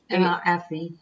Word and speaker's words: Evie: Was it or Evie? Evie.